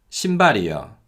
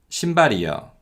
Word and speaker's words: 신발이요: 신발이요, 신발이요. So as you can hear, yo is pronounced closer to the sound of 여 than actually yo.